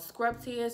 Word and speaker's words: Scrubtious: It's called Scrubtious, and I hope I'm saying that right. I actually reached out to the brand owner and I asked the question. She was like, it's pronounced exactly how you see it.